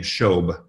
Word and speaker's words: Shobe: for the record um she pronounces her last name shobe is one syllable just um anyway but